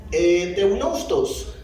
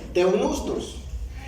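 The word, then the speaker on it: θεόπνευστος: Pero en el texto griego, esta palabra inspirar es la palabra que encontramos acá, que se pronuncia teunustos. Escuche bien, teunustos.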